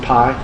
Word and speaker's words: pi: It's kind of like this is the Greek letter for P, but it's pronounced pi.